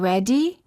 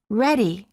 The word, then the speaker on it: ready: T between two vowels instead of saying ready we say ready it's the sound made